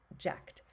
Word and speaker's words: ject: our base element is it's je C usually pronounced jacked and it means to